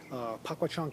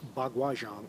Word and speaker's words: Bagua Zhang: Pakwa Chang is also pronounced as Bagua Zhang, or Bagua is probably the world's most popular slang layman's term for this art.